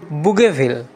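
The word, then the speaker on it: Bougainville: নাম doctor Vasco বললেন ফরাসি উচ্চারণে তার নাম দ বুগেভিল হালদা মশাই মুগ্ধভাবে বললেন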